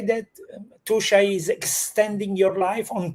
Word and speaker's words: Tuscia: Roy, can we say that Tusha is extending your life on top of giving you a very high quality of life?